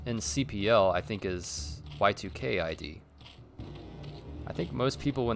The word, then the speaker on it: Y2Kid: I think it's Y2Kid is the one I hear most often, but Y2K ID apparently is how that's said.